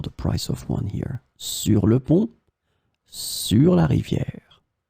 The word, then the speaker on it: sur: In this lesson, we will see together three words that are written differently but pronounced the same way. Sur, sur, sur.